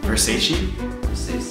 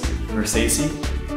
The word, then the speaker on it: Versace: Versace. Sure you're saying it right? Versace? Versace?